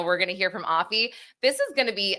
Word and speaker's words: Afi: criminal attorney and actually dizzy her name is pronounced aie so I just want to uh put that